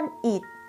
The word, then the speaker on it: อิฐ: อิฐ อ่าน ว่า ก้อน อิฐ คำ ว่า อิฐ นะ คะ มี ท้อ ฐาน เป็น ตัว สะกด ท้อ ฐาน อยู่ ใน มาตรา แม่ กด อ่าน ออก เสียง เด็ก ค่ะ สวน สัตว์ อ่าน